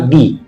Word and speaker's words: the: এই যে article THE রয়েছে, এই আর্টিকেলটা যখন ভয়েল সাউন্ডের আগে বসে তখন উচ্চারণ হয় দি, এবং যখন কনসোনেন্ট সাউন্ডের আগে বসে তখন এর উচ্চারণ হয় দা।